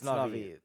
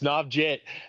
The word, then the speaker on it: Navjit: It's Navi. Shout out to that guy. I love him. It's Navjit. You can't get me on these pronunciations. I've talked to the. I swear to God, I think it was Matt who told me it was Navi.